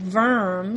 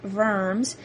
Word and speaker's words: Worms: IV in 1122 in a German city called verm spelled like worms but pronounced vers a meeting is held and is called the